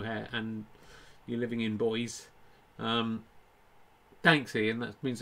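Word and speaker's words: Boise: so bad about wigan boyce is that how you say it boys i've lived in boys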